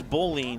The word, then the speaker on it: Boline: I know it's Boline will be the third batter here.